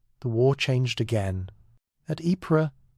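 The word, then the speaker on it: Ypres: At Epra, that unfortunate city whose name British soldiers could never quite pronounce. They called it Wipers.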